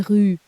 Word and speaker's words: rues: La rue, les rues. Did you hear the plural? No, you did not. The S is silent, of course it is. The article does all the work.